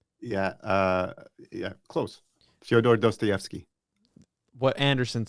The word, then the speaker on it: Dostoevsky: you say his name yeah uh yeah close dostoevsky what anderson said uh his book crime and